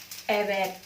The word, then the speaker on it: evet: Tapi kalau diapit dengan huruf vokal, dibacanya ganti W, seperti evet, yang artinya iya.